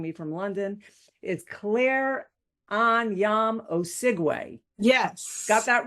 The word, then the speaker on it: Anyiam-Osigwe: Joining me from London is Claire Anyam Oigu.